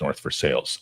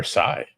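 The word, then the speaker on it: North Versailles: It's just that everybody knows that it's pronounced North for Sales on this side of the ocean. What? Versailles.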